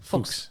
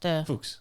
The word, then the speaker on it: Fuchs: Fuchs. It's like Fox. Fuchs. Like the fox. Okay. the animal, but it's in German, Fuchs, Fuchs, Sylvia.